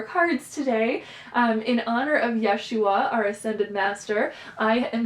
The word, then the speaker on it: Yeshua: And she refers to him with the more Hebrew pronunciation of his name, Yeshua, and just invoking the name Yeshua and reading these stories.